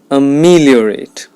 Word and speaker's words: ameliorate: it's a Latin expression ameliorate it means to improve a bad situation to make things better remember the stress is on the second syllable ameliorate for example after the flood